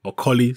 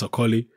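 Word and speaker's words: Okolie: the banter lawence AI aoli sorry the proper Nigerian pronunciation which I normally get right Lawrence ooli he got involved in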